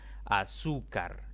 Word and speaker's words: azúcar: palabras graves otro ejemplo azúcar es otra palabra de tres sílabas la mayor intensidad cae en la penúltima sílaba contando de izquierda a derecha y como no termina ni nnnn s ni en vocal sino más bien en otra consonante debo colocarle tilde aquí hay otra palabra